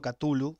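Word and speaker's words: Cthulhu: vamos a dejarlo en catullo que es como yo le digo como le decimos algunas pero hay otros que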